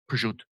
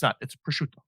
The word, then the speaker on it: prosciutto: For people in the tri-state area, Italians pronounce their vowels. It's not prosciutto. It's prosciutto.